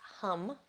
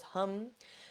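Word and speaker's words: ham: Now, the seed sound for the throat chakra is spelled H-A-M, but it's pronounced hum because of the difference of vowels between our language and Sanskrit. So it goes hum.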